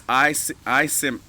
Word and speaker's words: iCIMS: One is iCIMS. iCIMS. It's called iCIMS, as a matter of fact. iCIMS Recruiting, and it's spelled ICIMS.